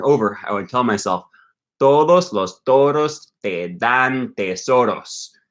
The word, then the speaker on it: todos: with a D, and you pronounce that D differently than the D in todos. Okay, and todos is much as a more weaker. It's like a fricative D, and the word dan, it's a stronger D.